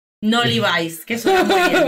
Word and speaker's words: Levi's: Aquí en España, en familia, se dice Levi's. No Levi's, que suena muy bien, se dice Levi's.